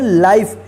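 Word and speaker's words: life: होगा जैसे य देखिए एल आई एफ ई इसको क्या पढ़ेंगे लाइफ इसको लीफ मत पढ़िए ठीक है चलिए य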